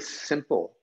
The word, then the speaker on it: SMPL: to define a very simple and there's no it's not a surprise that that smpl we pronounce it simple um it was designed to be simple we had a skate model